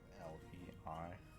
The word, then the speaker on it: Lei: Or it's Lay, I guess. Oh look, grass. I have no idea how to pronounce the name L-E-I. Well, it's Lei apparently.